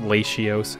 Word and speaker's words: Latios: it's pronounced Latios, actually.